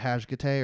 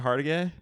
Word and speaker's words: Hargitay: And Mariska Hajgate, or however you say it.